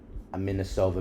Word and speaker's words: Anisimova: We had Amanda Anisimova, is that how you pronounce it? Anisimova, yeah.